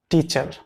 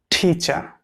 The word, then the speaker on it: teacher: People pronounce it like teacher, but it's a wrong pronunciation. The correct pronunciation will be teacher. You should be careful about the final R. When the letter R in the end of a word, it will always be silent.